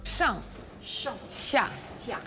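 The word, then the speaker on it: Shang Xia: de la même chose, comment ça se prononce? Shang, xia, dessus, dessous, et que c'est pas si simple que dessus-dessous.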